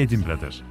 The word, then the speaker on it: Edinburgh: İngilizce okunuşu ise Edinburgh'dır.